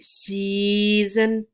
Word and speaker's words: season: good job so now notice how the same two vowels e and a are together and they're making the same long e sound one sound one long e season note you don't